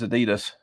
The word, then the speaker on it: Adidas: It's one of the few words the Americans actually pronounce correctly, and Adidas is Adidas. It's not Adidas. It's Adidas.